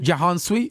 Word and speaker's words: Jahan Sweet: Yo, your producer, is it how do you pronounce it? Jahan Sweet? Yeah.